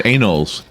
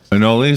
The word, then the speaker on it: anole: flick aura yes lizards anals anoles anole something you pronounce it yeah I know anal so the longest time and then anole Blizzard this is fine